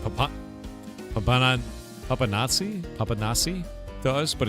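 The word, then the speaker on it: papanași: It's pronounced papanache. It looks like papa papan papanazi. Papanasi to us, but it's papanache.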